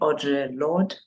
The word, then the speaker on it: Audre Lorde: by Audre, I'm not even sure if I'm pronouncing her name correctly, Audre Lorde.